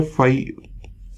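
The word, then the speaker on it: phi: ठीक है, तो ये एक ग्रीक सिंबल है जिसको जो है प्रोनाउंस किया जाता है फाई से।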